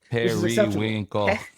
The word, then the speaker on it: periwinkle: No, it's not. It's more than 2. Periwinkle. You gotta clap, Max. Periwinkle. Periwinkle. It's 4 syllables.